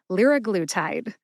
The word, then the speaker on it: liraglutide: So the pronunciation is liraglutide.